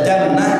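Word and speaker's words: جنة: Kalau dibaca jannah artinya surga. Kalau dibaca jinnah itu artinya bangsa jin. Tulisannya sama, jim nun ta marbutoh. dibaca junnah bagi perisai, dibaca jannah surga, minal jinnati wan nas. Kalau jinnah bacanya bangsa jin.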